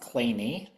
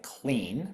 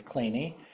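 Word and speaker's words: Kleene: Um, this was named after the American mathematician Steven Cole Clay and it really is pronounced Clay. You look at it, you might think Clean, but it is Clay.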